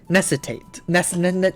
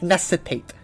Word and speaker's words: necessitate: Necessitate. Rich, you're missing a syllable there. Necessitate.